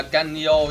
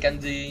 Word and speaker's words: Kanyo: Mình là Kanyo chứ không phải là Kanji nha Trường Xuân ơi, Kanyo.